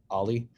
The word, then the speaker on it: o11y: at uh alifest ali is short 0-1-1y we pronounce it ali uh kind of like a skateboard trick ali